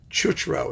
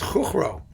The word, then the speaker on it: Chuchro: Chuchro is the way we do it because it's CH, it's easier to pronounce, but I think in Czech it was Chuchro.